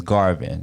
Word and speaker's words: Garvin: very day like my my actual real last name is garvin not garvey because garvey is my